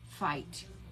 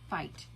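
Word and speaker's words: Feit: This is made by Fight. You spell it F-E-I-T, Fight.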